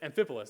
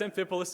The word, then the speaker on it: Amphipolis: Amphipolis, there we go.